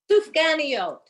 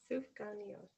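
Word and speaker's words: סופגניות: Okay, can someone pronounce this for me again? What is it that we're making the round? Sufganiyot.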